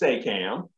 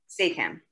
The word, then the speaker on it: SAAACAM: So we are pronounced SAAACAM. SAAACAM.